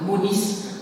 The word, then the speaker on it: Mounis: Donc Mounis, bon, on prononce le S, vous savez que le latin, on prononce toutes les lettres.